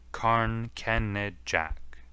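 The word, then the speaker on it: Carn Kenidjack: Carn Kenajek is its real name, but they are taking now to spelling it as it is pronounced, Carn Kenejak.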